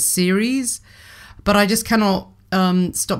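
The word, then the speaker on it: Ceres: a yard pointing to Sarah's now I'm not actually you know what I think I've been pronouncing Sarah's wrong all this time I think she's supposed to be pronounced as series but I just cannot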